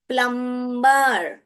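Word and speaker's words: plumber: प्लम्बर, प्लम्बर। Okay, इसमें जो B sound है साइलेंट है, प्लम्बर नहीं बोलते हैं, प्लम्बर, प्लम्बर ऐसे बोलते हैं।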